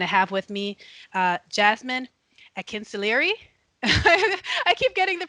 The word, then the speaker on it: Akinsulire: And I have with me Jasmine Akinsulire. I keep getting the pronunciation incorrectly. You did a good job. Akinsulire.